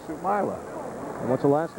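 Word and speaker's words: Soumaila: Sumila.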